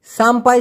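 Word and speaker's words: sampai: সাম্পাই সিকারাং দি হিডুপ সায়া, সাম্পাই অথবা সাম্পাই উচ্চারণটা হবে সাম পাই, সাম্পাই অথবা সাম্পাই।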